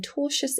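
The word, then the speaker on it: tortious: The plaintiff filed a lawsuit alleging torchious interference with contractual relations seeking damages for economic losses. Different pronunciation now.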